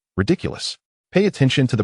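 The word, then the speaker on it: Riddikulus: "Everyone, please remember how to pronounce that spell. Ridiculous. Pay attention to the pronunciation and the rhythm of the pauses between each syllable. Now, everyone raise your wands and repeat after me. Ridiculous.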